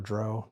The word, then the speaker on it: drow: Probably my favorite module because of all the drow in it or "droe" depending on how you say it.